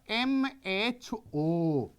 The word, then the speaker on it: mho: So if ohm you will pronounce and make it in the reverse way, that is equals to your the MHO.